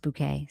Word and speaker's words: Bucket: Oh, I thought I said bucket. Did it not say bucket? It went by quick. It's fine. Mrs. Bucket. It says it. Mrs. Bucket. Well, they're saying it's pronounced bouquet, so.